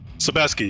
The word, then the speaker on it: Sebaski: here in the booth sebaski you just pronounced it like it's ski at the end all right very good